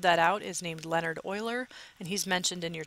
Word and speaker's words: Euler: Because his last name was spelled with an E, even though it's pronounced like it's spelled with an O, they named the number that he discovered after him.